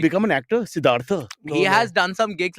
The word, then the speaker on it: Siddhartha: The McDowell guys came and told me backstage, please, it's Siddhartha. Siddhartha. The has to be properly pronounced, not even like Oh. shorter, not even like Siddhartha.